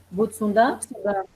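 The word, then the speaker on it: Butsudan: sou messiânica, e nós temos o Mitamaya, ou Butsundan, que é o altar dos antepassados, shintoísta ou budista. Se eu estiver pronunciando errado, vocês me corrijam. Virgínia Butsundan. Butsundan?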